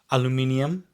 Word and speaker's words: aluminium: We say aluminium, here it is aluminum.